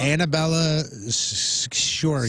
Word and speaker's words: Annabella Sciorra: Annabella Sciorra. See, you're like, Sciorra. Sciorra. Shora. Shiora.